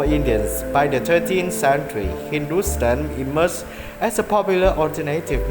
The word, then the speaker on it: Hindustan: Thapa states that the word Hindu is found as Hepta-Hindu in Avesta, African to Rigvedic Sapta Sindhu, while HNTSTN, pronounced Hindustan, is found in Sasanian inscription from the 3rd century CE, both of which refer to the parts of northwestern South Asia.